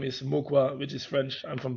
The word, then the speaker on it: Mauquoi: Well, I'm going to do my absolute best here, but is it pronounced Mauquoi? Nee, Mukwa. Mukwa. Mukwa.